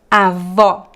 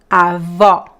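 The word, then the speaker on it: avó: stressed second example here talking about the open R so repeat after me to practice Avo Avo Estoria Estoria so all these examples they always very very open and also stressed in Portuguese the graphic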